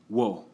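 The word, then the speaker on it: を: For now, just the first one. Wa. Last is pronounced wo.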